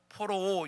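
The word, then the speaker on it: πωρόω: 우둔하다 원어로 포로오 이렇게 발음을 하고요.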